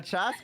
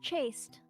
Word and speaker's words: chaste: kiss, mwah, mwah, mwah, like, how, like a chast kiss is like it's quick, like, you know, right? It's like the mwah, mwah, mwah kind of thing, right? It's The pronounced chaste.